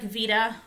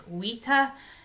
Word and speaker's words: vita: case so we have what looks like Vita or Vita but it's WETA and WETA means life